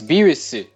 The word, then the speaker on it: Beerus: on virus cuz his the Japanese pronunciation is beerus and there's no V sound in Japanese yeah and but the